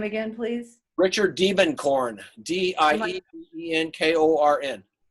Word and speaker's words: Diebenkorn: take a look at uh demon corn's work richard diebenkorn probably the greatest uh greatest artist american artist